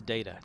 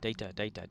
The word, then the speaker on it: Data: TNG when everybody says data data data whatever like that then all of a sudden here comes like season two with Pulaski and she can't say data she calls him data right and like data